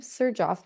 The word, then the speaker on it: Xerjoff: together and the name sir Joff was born so the xer in front of the uh in the beginning of the word is pronounced as Sir s iir sir um